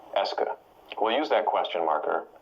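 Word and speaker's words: est-ce que: it as being a single word that marks questions that's pronounced Esa we'll use that question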